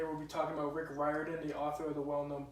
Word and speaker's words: Riordan: His full name is Richard Russell Riordan Jr., and a lot of people get his name wrong, but his family always called their last name Riordan, which I had a hard time dealing with.